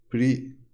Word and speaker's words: precedence: Precedence. I'm wondering how you pronounce this.